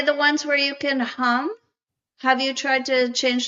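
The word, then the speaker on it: hūṃ: That's actually, so you can say hum. Yep. And that M, that vibrating M in your chest cavity, man, that'll set you up.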